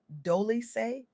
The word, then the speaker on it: Dolce: What she shared with me during our conversation on the soft girl era podcast hosted by Dolce, pronounced Doly is nothing short of transformational.